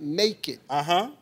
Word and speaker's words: nekkid: You think because you're pronouncing the word naked, naked, that it means it's different?